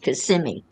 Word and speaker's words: Kissimmee: But it's pronounced Kissimmee.